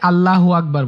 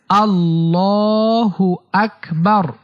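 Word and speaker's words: الله أكبر: অনেকে আল্লাহু আকবার বলে, এটা ভুল উচ্চারণ। সঠিক উচ্চারণ হচ্ছে আল্লাহু আকবার, আল্লাহু আকবার।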